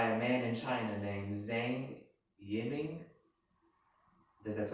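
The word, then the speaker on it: Zhang Yiming: in 2012 by a man in china named zane yenning that that's how you pronounce it and was stabilized in this year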